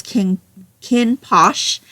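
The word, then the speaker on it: Kinn Porsche: So, if you looked at this cover, it looks like the title is King Porsche. But he definitely says it as Kinn Posh.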